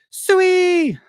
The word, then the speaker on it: Sui: Sway. I think it's supposed to be pronounced Sway.